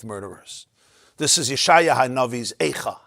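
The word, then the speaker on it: איכה: It's the word Ayeka, pronounced as Ayeka.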